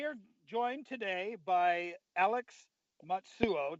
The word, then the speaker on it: Matsuo: So anyway, we are joined today by Alex Matsuo. Did I pronounce that right, Alex? Matsuo. Yeah, you're close. Matsuo.